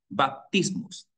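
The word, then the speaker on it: βαπτισμός: abluciones, es la palabra baptismos. Hay texto en griego y la pronunciación en español. No en español, la pronunciación en griego.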